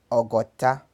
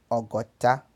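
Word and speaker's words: ọgọ́ta: 60 pronuncia-se ogotá, ogotá.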